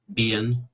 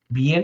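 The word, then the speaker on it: Biehn: Tu prononcerais ça comment ? Bien. Bien. OK.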